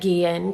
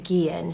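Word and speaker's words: Guillén: a second and apologize i know that i mispronounced vanessa's last name in the previous video that we did so i just want to take a second and apologize for that her last name is gian so we were talking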